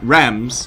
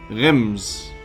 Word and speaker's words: Reims: It's not rams, like you say the number in France. Rams. What? If you know how to say it. Aim is in fact pronounced like the in. Rims. It's the Rims.